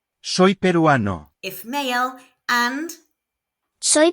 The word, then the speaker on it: peruano: To say I am Peruvian, we say Soy peruano. if male and Soy peruana. if female. There are no accents, so the stress naturally falls on the second to last syllable.